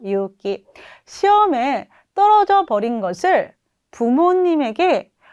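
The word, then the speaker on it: 勇気: 용기는 유기라고 해석하면 되죠. 유기라고 발음하면 돼요. 유기.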